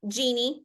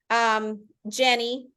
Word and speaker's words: Jeanne: It's been Jeannie, which is actually how it's pronounced, Jean, Jenny, Janine, Janine.